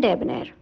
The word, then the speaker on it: debonair: एन ए आई आर और इसे हम प्रोनाउंस करते हैं डे बनेर इसका यूज एज एन